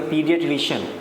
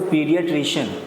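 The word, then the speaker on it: pediatrician: जैसे इसको आप पढ़ेंगे तो इसकी प्रोनाउंसिएशन अक्सर गलत होगी, तो इसको पढ़ेंगे पीडियाट्रिशियन। क्या पढ़ेंगे इसको, पीडियाट्रिशियन।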